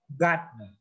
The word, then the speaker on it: gardener: Jadi kesimpulan pembelajaran selama ini adalah yang R enggak usah dibaca.